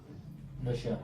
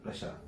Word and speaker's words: रशिया: Pronunciation सही होता है रशिया, हाँ, RUSSIA, रशिया, ये इसका सही प्रोनाउंसिएशन।